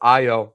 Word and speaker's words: Ayo: if the expectation is AO can also fill in the gaps defensively that uh Mike Connley and Rob Dillingham couldn't. D Chris 1367, congrats on getting AO Bulls fan. Also, it's pronounced IO.